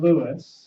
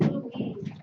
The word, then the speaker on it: Louis: of John and Louis It's pronounced Louise.